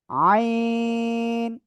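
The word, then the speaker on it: عين: আইন এই গলাটা চেপে আমরা এটা উচ্চারণ করব।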